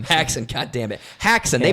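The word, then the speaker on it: Haxan: filmmakers who created it what was it again hammocks I keep saying it wrong H hackson God damn it hackson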